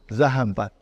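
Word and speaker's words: ذهبت: How do you pronounce it? Zahabat.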